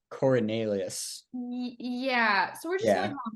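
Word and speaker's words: Coriolanus: its first name Cornelius it's not Cornelius it's like Cornelius yeah so we're just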